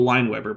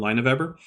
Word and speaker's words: Lineweber: there whose name is Joel lineweber by the way I found out how to pronounce it after I had already recorded the entire video in which I called him line of ever so Joel sorry I